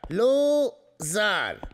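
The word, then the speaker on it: Lou Zarr: Zar. Şöyle okunuyor. Zar. Lu Zar.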